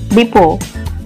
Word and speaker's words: depot: Second one, the letter T is silent in the word depot. Third one, the letter P is silent in the word receipt.